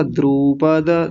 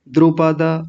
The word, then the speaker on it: द्रुपद: और आगे आपने बोला था द्रुपद, द्रुपद, बड़ा ऊ बना दिया था, बड़ा ऊ नहीं करेंगे, छोटा ऊ बोलेंगे, द्रुपद।